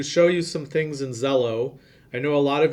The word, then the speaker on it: Xello: It starts with an X, but it's pronounced Xello.